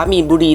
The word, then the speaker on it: มีนบุรี: น้อง เ บอก ว่า จริง ๆ แล้ว มัน อ่าน ว่า มีน บุรี หนองจอก นะ คะ พี่ แพม โอเค